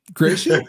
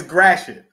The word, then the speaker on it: Gratiot: Gratiot? It's close. It's close. It's Gratiot. Gratiot.